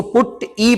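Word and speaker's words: PuTTY: इसी के अंदर टेलनेट उसके अलावा पुट टी इसको पुट ई पढ़ेंगे। एक्चुअली प्रोनाउंस करेंगे एंड सिक्योर शेल यानी कि एसएसए।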